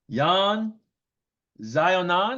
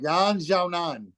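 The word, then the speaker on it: 闫晓楠: Look, Jan Xiaonan. Did I say it right? Yan Xiaonan.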